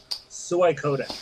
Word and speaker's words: Suikoden: Right, let's start with Suikoden 3. Am I saying that right? Because I never know if I'm saying it right. Is it Suikoden or is it Suikoden? Suikoden. Oh, Suikoden. Yeah, like soya stuff.